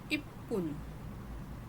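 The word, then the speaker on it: いっぷん: Okay, तो यहाँ पे है 1 मिनट और उसका रीडिंग है इप्पुन।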